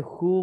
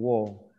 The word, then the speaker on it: who: Por ejemplo, este who mucho lo he escuchado que dicen wo. Es who. Who.